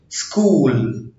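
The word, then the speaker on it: school: بوديزم بودست بوديزم بودست لا ينطق اذا جاء قبله حرف السي وجاء بعده حرف متحرك. زي كلمة سكول سكول. سكازم سكازم لا ينطق إذا جاء في أول الكلمة وجاء بعده حرف أو.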